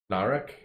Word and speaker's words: Narek: showed her things as a name and it rhymes with barrack narek remember his play is